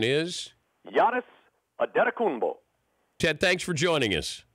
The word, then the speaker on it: Giannis Antetokounmpo: The pronunciation is? Giannis Antetokounmpo.